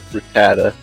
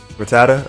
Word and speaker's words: Rattata: How do you I'm I'm going to say what's the pronunciation that purple rat in Pokemon? Rattata. Rattata. Okay.